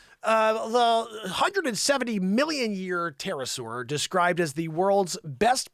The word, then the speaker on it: pterosaur: that a pterosaur or is that a paterasaur no i know it's pterosaur joanne uh superbly preserved